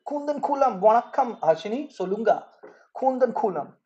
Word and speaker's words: Kudankulam: So it's Kundan Kulam in pronunciation. Kundan Kulam, Vanakkam, Harshini, Solunga.